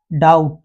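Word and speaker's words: doubt: होना चाहिए एम बी वैसे ही यदि बी के बाद टी आ जाए तो बी को नहीं पढ़ा जाएगा जैसे डाउट तो बी को नहीं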